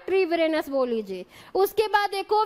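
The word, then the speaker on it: Treviranus: किन्होंने नामकरण किया था, लैमार्क और ट्रेविरेनस ने। ट्रीविरेनस भी इसको कहते हैं कई बार, तो कंफ्यूज मत होइएगा, ट्रेविरेनस बोल लीजिए या ट्रीविरेनस बोल लीजिए।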